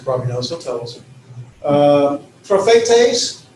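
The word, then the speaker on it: προφήτης: Prophetes, 3 syllables. Pro-phe, that's where the accent is. Prophetes.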